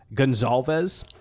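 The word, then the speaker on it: Goncalves: but it's still pronounced Gonzales I'll call him Matt because I'll M Matt the C is pronounced like a z i I still I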